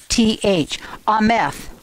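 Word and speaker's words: אמת: And this word is faithfulness, and it is pronounced E-M. I can never remember that. E-M-T-H, I think. E-H-M. Okay, E-H-M-E-T-H. Ameth.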